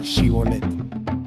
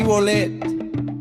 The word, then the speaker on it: Shibolet: Si él respondía, "No, entonces le decían, "Di pues la palabra shibolet." Pero él decía, "Sí, bolet porque no podía pronunciarla correctamente."